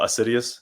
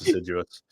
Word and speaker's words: assiduous: we're idiots so we just we said oh assidious sounds cool apparently it's pronounced assiduous but so we went with that so assidious